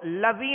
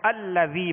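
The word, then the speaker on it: الذي: تو اب اس کو لذی نہیں پڑھیں گے، لذی نہیں پڑھیں گے. ہجے بھی کریں گے تب بھی حمزہ کے ساتھ ملائیں گے، اور رواں میں پڑھیں گے تب بھی حمزہ کے ساتھ ملا کر پڑھیں گے، تو الذی پڑھیں گے.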